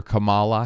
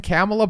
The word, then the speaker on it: Kamala: It kind of flows nice to say that more than Kamala, but again, that's her name, and as someone who